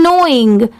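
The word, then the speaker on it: knowing: जाएगा स्माइल्ड यह है नोइंग यहां पर एन ओ डब्लू आई एन जी सिर्फ इतने की साउंड आ रही है मतलब सिर्फ इतना ही प्रोनाउंस किया जाता है बट लिखते टाइम के भी ऐड करते हैं यहां पर प्रोनाउंस करते टाइम लेटर के साइलेंट होता है अगर आपको यह जानना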